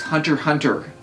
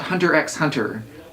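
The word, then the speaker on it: Hunter × Hunter: are saying it correctly it's hunter hunter not hunter x hunter all the x's are esthetic markers in the title it is not X pronounce that X this way X personal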